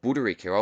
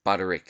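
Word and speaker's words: Butters: I was watching 360 it's not Buddha Rico I've been pronouncing it from Conor the man himself from the horse's mouth it's Butterick so I'll be calling him Butterick from now on didn't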